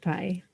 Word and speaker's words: Pieh: And I saw PIE was the first three letters. I'm like, well, I like pie. And I'm thinking this is pie.